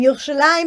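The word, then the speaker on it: ירושלים: yes so um i remember that you've pronounced yerushalayim and jerusalem which is it so jerusalem is how they say in english that's kind of like the english name and yoshilam is in hebrew so if you wrote it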